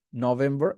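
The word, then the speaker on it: November: আরেকটা হচ্ছে আপনার নভেম্বর বলেছি, নভেম্বর, এখানে নো আর হবে না।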